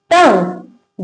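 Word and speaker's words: tongue: जब किसी वर्ड में जी के बाद यू आए तो यू साइलेंट रहता है। जैसे कि गार्ड, गेस्ट, टंग।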